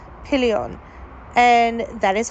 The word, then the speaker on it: Pillion: Now, the movie we're going to talk about is called Pillion. And that is how you pronounce it.